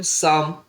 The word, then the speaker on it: psalm: और PSALM साम, P silent है, साम मने भी होता है भजन।